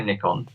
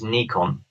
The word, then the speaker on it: Nikon: Nichkhun well so so English people say Nick on OK Americans say Nikon the actual correct pronunciation is Nikon okay so that apparently